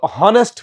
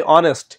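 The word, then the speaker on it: honest: কিন্তু হনেস্ট বলি না আমরা বলি অনেস্ট আমরা হাওয়ার বলি না বলি আওয়ার তো এই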